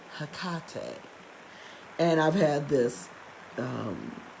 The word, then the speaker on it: Hecate: to inform you but the greek scholars pronounce it hakate and i've had this